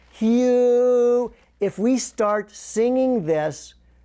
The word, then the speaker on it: Hu: But saying who or Hugh, it's H-U, Hugh.